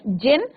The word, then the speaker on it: jinn: Even the clever jinn और genie, यहाँ पे D साइलेंट रहेगा बच्चों, तो इसका प्रोनाउंसिएशन होगा आपका pronounce as जिन and variously spelled as.